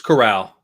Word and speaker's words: Corral: like how do you say his name it's corral corral okay yeah um two more picks of